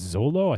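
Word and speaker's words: Xolo: he's so great yeah i think it's zolo i think that's how you pronounce zolo yeah that's right yep so yeah that's ravenchow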